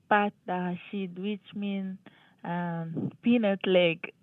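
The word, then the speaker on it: pâté: Google failed you because what you're saying in French is PID which means peanut paste and it's spelled p a t and there's a circumflex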